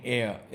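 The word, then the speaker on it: heir: लेकिन यहां पर एच जब साइलेंट हो जाएगा तो उसके साथ आप एन यूज करते हैं इट इज an honour for मी और कौन-कौन से वर्ड्स हैं जिनमें ये अनयूजुअल एन आता है silent etch at the beginning of the following words for example N एयर air mean Waris N एयर an honour an hour और an honest man ये सारे के सारे ऐसे वर्ड्स हैं जिनमें एच साइलेंट है और इनके साथ आप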